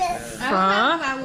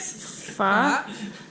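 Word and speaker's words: phở: I'm having my first pho. How do you say it? Pho.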